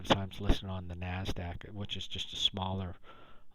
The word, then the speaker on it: NASDAQ: This where I talked about NASDAQ, that's actually how NASDAQ is spelled out. It's just pronounced NASDAQ.